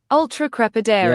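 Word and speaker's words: ultracrepidarian: Ultra crepidarian. Yeah, that's your bang on pronunciation wise.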